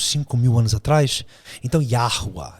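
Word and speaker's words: יהוה: em hebraico Então você o nome dele seria yahua isso Yah é a pronúncia de yhw yahua yahua então yhw que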